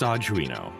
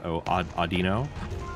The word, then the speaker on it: Audino: It's just Arduino.